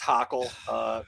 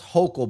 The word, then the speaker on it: Hochul: That's not how that works, Hockle. That's all right. Can we squeeze one more in? You guys get it right. One more? I'm good. It's pronounced Hochul, by the way.